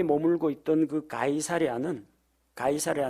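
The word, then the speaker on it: Caesar: 있던 그가 2살이 않은 가이사랴 는 로마 황제 가이사 a 라는 이름에서 따왔습니다 우리가 그럼 가이사 a 라고 부르기도 하고 케사르 라고 부르기도 하고 영어 발음으로 씨저 라고 부르기도 합니다 그래서 카이사르의 이름을 따서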